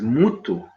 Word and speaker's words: mutu: And he said, it's exactly the same word in my language. Then he asked me, well, how do you spell it? I said, we spell it M-U-T-U. He said, well, there's only one difference. We spell it M-T-U. But obviously, the sounding of it is 100% the same.